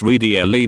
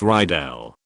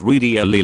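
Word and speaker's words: Riedel: quietly remarked as an aside to her it's pronounced R not ryel she gave me the death stare my dad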